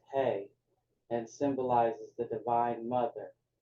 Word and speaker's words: He: That second letter is He, pronounced Hey, and symbolizes the Divine Mother.